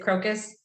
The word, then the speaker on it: Crocus: Today, we're going to talk with Lewis Vandervalk from Crocus Solutions. I think I said it right. Is it Crocus?